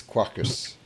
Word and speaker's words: Quarkus: it so mine is caucus what's your Ximena - this like Spartacus so it's Quackers but you know I'm